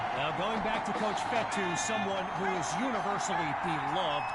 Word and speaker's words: Fetu: minimal pick up so coach fetu spelled f Tu for the longest time I was pronouncing it coach feta like Feta cheese so let's just say